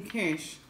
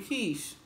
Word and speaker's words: Kesh: ate you good but everyone calls me cash it's cleaning quiche so I'm thinking about switching the spelling of